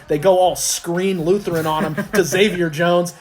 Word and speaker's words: Crean Lutheran: It's actually pronounced Crean Lutheran, not Crean Lutheran.